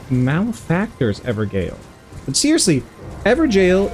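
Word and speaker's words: Evergaol: ever Gale but seriously ever jail is how people pronounce it it looks like ever Gale right it looks like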